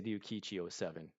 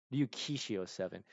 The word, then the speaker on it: Ryukishi07: I want to say Ryukichi07. I always get his name messed up. I want to make sure I don't mispronounce it. Ryu Kishi. I always switch the S with a C. Ryukishi07.